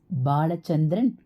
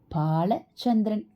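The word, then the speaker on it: भालचन्द्र: அது இப்போது உச்சரிக்கிற மாதிரி ஸ்பெல்லிங் போடுகிற மாதிரி பாலசந்திரன் இல்லை பாலசந்திரன் அதாவது பிஏ ஏ அழுத்தி சமஸ்கிருதத்தில் இரண்டாவது பாவாக முதல் எழுத்தைச் சொல்ல வேண்டும் அதுதான் சரியான பெயர் பாலம்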